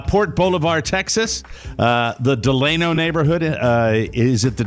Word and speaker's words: Delano: send those were two that they send specific pronouncers for I would have said de Delano too but it's deleno and it's Hal Eva it's Hal Eva I